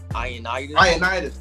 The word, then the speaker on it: Ioannidis: Ioannidis.